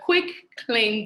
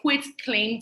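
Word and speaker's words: quitclaim: mixed up with a quick claim deed which a lot of people mispronounce so it is a quick claim deed with a T at the end and basically each one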